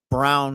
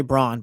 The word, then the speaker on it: Braun: by ear like Christian Brown. And on the Nuggets, his last name, brother, your last name is Braun. That's how it's spelled. Say Braun, but they say Brown.